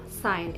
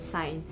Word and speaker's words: sign: given word uh example can be given off sign s i g and sign in this letter in this word the letter